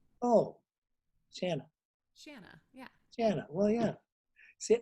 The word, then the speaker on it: Shanna: forward to seeing you shawna did i see it right this time it was close it was close it rhymes with banana oh santa shanna yeah janna well yeah